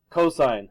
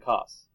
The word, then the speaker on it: cosine: help me please mogen you don't actually pronounce announce the abbreviation it stands for something M so limit cosine sign not limb sin and cost or got it all right